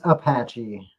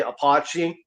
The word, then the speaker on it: Apache: Yeah, it's it's Apache. Apache. Yeah, Apache. I know it's the way it's spelled because the way it's spelled I I used to joke around and say apachi just the mess with